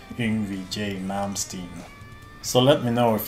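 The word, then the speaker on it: Yngwie Malmsteen: modern stand the more correct way to do it is to say Envy J Malmsteen so let me know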